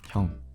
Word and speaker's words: 형: This is like an ong sound.